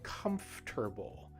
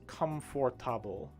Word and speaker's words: comfortable: So there's that word again that we practiced before, the word comfortable. Remember how the word is not pronounced comfortable, right? It's not four sounds, but it is just three.